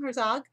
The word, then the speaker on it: Herzog: So I want to introduce you all to Herzog. Did I say it right? Excellent. Yeah, never always. It's German 5 generations ago, but it's all anglicized and Americanized.